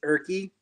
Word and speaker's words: Urke: It's Urke. Urke. I would have never guessed that one. So Nope, it's just like it's like written, like it's spelled.